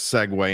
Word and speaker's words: segue: call a Segway my friends we're going to segue into the Saints but out before we segue